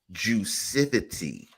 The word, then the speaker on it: Juicivity: how do you pronounce the word and it's pronounced juicivity it's the combination of juice electric speed explosion